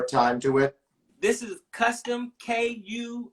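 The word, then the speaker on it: Kustom: This is Custom, K-U. It's like spelled like custom with a K, K-U-S-T-O-M.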